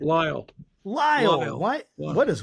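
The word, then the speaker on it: Lisle: He's currently a professor of New Testament at Northern Seminary in, I'm going to say this wrong, Lizzle? How do you say that? Lyle.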